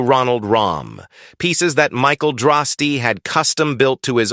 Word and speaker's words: Droste: That's d r o s t e pronounced Droste.